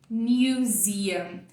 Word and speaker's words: museum: Quando você olha para a palavra museu, dá vontade de falar quase isso, né? Museu, algo assim. Porque é isso que está escrito aqui. Só que, na verdade, a pronúncia dela não tem nada a ver com isso. A gente vai dizer, olha para cá, comigo. Museum.